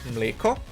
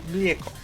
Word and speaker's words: mlijeko: The difference is the J. Croatians use the J, while Serbians just use the I. So they Serbians say mleko, Croatians say mlijeko.